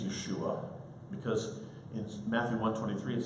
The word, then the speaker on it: Yeshua: about the pronunciation no we should try to educate to say his name is Yeshua because in Matthew 1:23